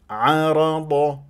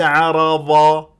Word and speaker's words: عرض: في قوائم التشغيل شوفها كيف تنطق الضاد عرض شوف عرض وليس عرضا ظا اذا قلت غلط ارجع